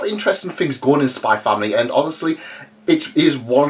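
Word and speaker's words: Spy × Family: want to call it i call it spy family because the x is silent this is a fantastic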